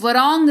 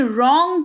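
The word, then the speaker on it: wrong: कलाई फिर है डब्लू आर ओ एन जी वारंग नहीं रंग पढ़ेंगे रंग रंग का मतलब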